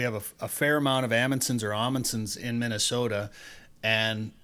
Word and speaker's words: Amundson: Amundsons in Minnesota, and but most people pronounce it Amundson. Like I would say 90% of the people we meet with the same last name pronounce it Amundson, but he pronounces it Amundson. So he's one of the few other people with the same last name that pronounce it the same way that we do, but